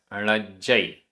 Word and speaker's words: णज्जय: ताम, ताम, ण, ण, णज्जय, आधा जा पूरा जा, णज्जय।